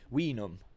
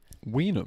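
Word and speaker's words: vinum: from the Latin word we numb we numb yeah it's spelled v-i-n-u-m but it's okay in Latin all these were pronounced as W's okay I remember that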